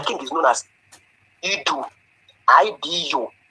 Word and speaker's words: Idu: I-D-U. Idu. It doesn't matter how you pronounce it. Idu or Idu.